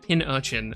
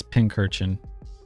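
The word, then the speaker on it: Pincurchin: Also, you pronounced it Pin Urchin. Who's correct? Is it Pin Urchin or is it Pinkerchin? Because it's got a C in it. It's Pinkerchin. It's Pinkerchin.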